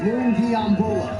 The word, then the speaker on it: Lungiambula: I'm telling you, better start learning how to pronounce that name. Lungiambula.